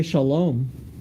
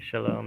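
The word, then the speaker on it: שלום: Usually just say shalom. Right, shalom.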